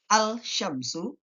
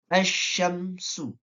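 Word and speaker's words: الشمس: Al-syamsu. B. Asyamsu. C. Al-syamsi. D. Asyamsi. Jawabannya adalah B. Asyamsu. Karena alif lam bertemu shin dan dikategorikan idgham syamsiyah.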